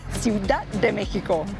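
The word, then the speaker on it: Ciudad de México: Ciudad de Mexico. That was like a Portuguese pronunciation. Ciudad de Mexico.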